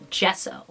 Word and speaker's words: gesso: use it what kind do i buy it's pronounced gesso we use gesso when we are priming a